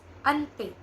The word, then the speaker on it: Auntie: pay and pay okay not on T it's Auntie Naco if you are with